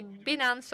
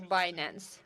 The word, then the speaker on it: Binance: I mean, so you can say Binance or Binance.